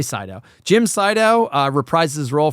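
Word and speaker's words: Siedow: So it's the character is once again played by Jim Sydow or Jim Sidow. I don't know how you want to pronounce it. Jim Sydow. I'll say Sydow.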